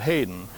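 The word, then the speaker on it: Headen: All they spelled it H-E-A-D-E-N, but they pronounced it Hayden.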